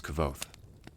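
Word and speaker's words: Kvothe: my name is kavod pronounced nearly the same as quote names are important as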